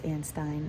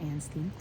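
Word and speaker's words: Anstine: Cali Fajardo and Stein I think I was saying it wrong but it's Ann Stein not and steam and this is a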